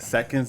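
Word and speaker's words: Sekendz: yo i can't wait seconds is spelled s-e-k-e-n-d-z stands for second chance as you know i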